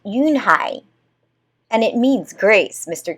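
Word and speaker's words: Unhei: Your name is Uni? He asked her with his eyes open wide. Yunhai looked quickly at Mr. Kim, then turned to Joey. She nodded slowly. Yes, it's pronounced Yunhai.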